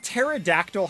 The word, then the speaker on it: pterodactyl: Or like pterodactyl having a silent P.